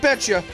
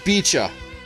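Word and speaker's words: Beecha: and we also meet bicho not betcha bicha that's how you're supposed to pronounce it i'm not kitty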